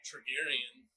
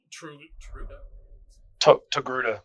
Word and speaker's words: Togruta: This Targaryen, I think I pronounced the race correctly. Ahsoka's race. Togruta.